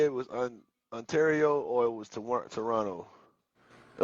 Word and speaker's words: Ontario: mug from I want to say it was Ontario or it was Toronto. It was one of them. But yeah, this is when I had the other Freightliner, the one that we sold. But yeah, Ontario.